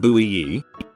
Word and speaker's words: buoy: Boy is pronounced bui.